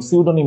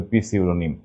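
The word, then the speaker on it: pseudonym: চলজাই pneumonic M pneumonic এবং সিউডোনিম মানে কিন্তু পিসিউডোনিম ওকে আশা করি ইনশাল্লাহ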